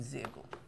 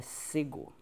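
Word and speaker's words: Szegő: Então, para esse caso aqui, eu tô seguindo o livro do Zego. Que eu depois descobri que o certo da pronúncia é Sego. Sempre pronunciei errado.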